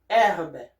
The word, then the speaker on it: herbe: In French is herbe. Herbe. So you don't hear the H here.